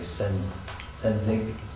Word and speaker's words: Sensenig: Yeah, I don't, I think it's actually Senzig. oh, it's kind of a silent EN in there.